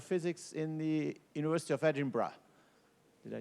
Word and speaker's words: Edinburgh: so as he says I'm from University of Edinburgh that's how to pronounce that so if you learned nothing else from my lectures it's Edinburgh uh that's the Royal